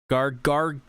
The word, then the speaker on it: Gargantia: Gargantia.